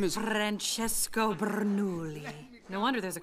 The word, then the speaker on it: Francesco: car his name is Francesco Bernoulli no wonder there's a crowd wait why do you know his name I don't say it like that it's three syllables not ten what he's nice to